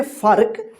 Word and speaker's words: फर्क: रेफ की मात्रा, क्योंकि फ के बाद जो है ना आधा र का उच्चारण हो रहा है, फर्क।